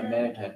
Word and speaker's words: Manichaeism: Manichaeism. Yeah, Manichaeism, yeah. That's how you say it. I found that out recently.